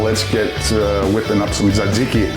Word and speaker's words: Tzatziki: let's get whipping up some tzatziki. Sounds good. Tzatziki. Tzatziki. Make sure you pronounce it properly out there. Bonus points for you non-Greeks who say Dzadziki.